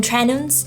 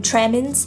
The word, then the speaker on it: tremens: clonic seizure alcohol withdrawal can lead to delirium trenums delirium trenham oh i said it wrong again again delirium training trainings why can't i say that words tremendous alcohol withdrawal can lead to delirium tremens and this is a medical emergency that can